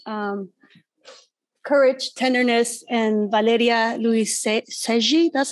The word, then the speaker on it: Luiselli: on this planet um courage tenderness and valeria luis seji that's how you say it i always said